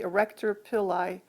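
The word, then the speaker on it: arrector pili: refer to as the erector pillai muscle notice that it's spelled with starting with the letter a and not an e so the erector pili muscle which is a smooth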